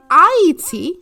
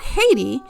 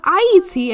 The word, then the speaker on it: Ayiti: They called it Iet. And I not Haiti. It was called Iet. And I is spelled A Y I T I or the land of high mountains.